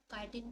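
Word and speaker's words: chitin: और बेटा जो फंगस होते हैं ना, इनकी जो सेल वॉल होती है वो चिटिन से बनी होती है, काइटिन भी हम उसको प्रोनाउंस कर सकते हैं।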